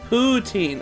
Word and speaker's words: poutine: Poutine.